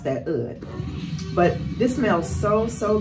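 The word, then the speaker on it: oud: actually like how you say say wood it's Ood that's the how you pronounce that Ood but this smells so so good and he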